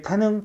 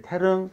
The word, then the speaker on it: 태릉: 이거에 끌려가지고 많은 친구들이 태능, 태능, 태능 이렇게 읽는다. 태능이라고 읽으면 되는데 안 돼. 태릉, 태릉, 태릉으로 읽어야 돼. 그래서 태 어르릉에서 R로 가야 돼, 여기는.